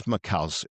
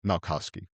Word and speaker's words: Malkoski: So my guest today is Kris Malkoski. See, I already messed it up, Kris. Kris Malkoski. Close? Malkoski. How do you say it? Let's help me out there. Malkoski. Malkoski. All right, Malkoski.